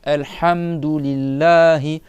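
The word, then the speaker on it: الحمد لله: Donc là c'est pareil, c'est le ha ici c'est pasou et c'est pas hamdou et c'est pas hamdou, c'est al d'accord ? Ha c'est le milieu de la gorge. Alhamdulillahi et lillahi comme vous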